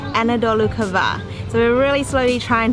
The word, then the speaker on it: Anadolu Kavağı: so spectacular so before I think I called this village Anadolu Kavagi which is completely wrong the way to pronounce it is Anadolu Kavağı so we're really slowly